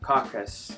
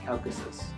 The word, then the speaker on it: Caucasus: uh correct me from wrong but I'm probably pronouncing this wrong anyways um caucus calus Caucasus Caucasus there we go um from here it seems